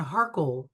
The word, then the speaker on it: Harchol: kind of like Hanan with the accent on the second syllable. So Okay. Hanan and Harkle.